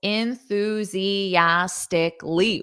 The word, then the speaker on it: enthusiastically: enthusiastically elastically enthus enthusiastically so notice those syllables enthusiastically whoa there aren't many words in English that have six syllables so listen to that syllable stress enthusiastically so you hear the Ooze more that's the stress syllable enthusiastically repeat after me